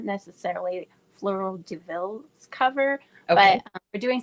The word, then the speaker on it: Fleurs de Villes: And of course, we're also obviously on social media at Fleur de Ville. And that's with S's on the Fleurs de Villes. That's not how you say it, but that's how you spell it.